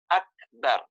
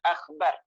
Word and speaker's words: Akbar: Akbar. Akbar itu lafaznya adalah di kaf. Ak bukan kha, bukan akhbar. Jangan sampai nanti membacanya Allahu Akbar. Gitu. Karena akbar itu artinya maha besar.